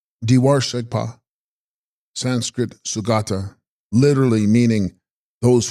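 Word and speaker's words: bDe bar gshegs pa: Text: Udarva Shegpa, pronounced Diwar Shegpa.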